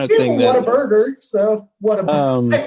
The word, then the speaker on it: Whataburger: So, Whataburger. I pronounced that really weird. You know what? I pronounced it real. I pronounced I called it Waterburger the other day when I was talking to someone.